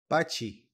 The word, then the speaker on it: bocce: by the way I didn't know that you pronounced it B until I tried to Ask Google about it byi so these are the rules how to play